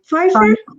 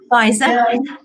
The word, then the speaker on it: Pfizer: In March, yes, with that new vaccine from, how do you pronounce it? Pfizer? Pfizer.